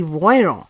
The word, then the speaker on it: Voiron: voiron the name of the city is spelt as v-o-i-r-o-n or in english v-o-i-r-o-n this city voyron is nearby these mountains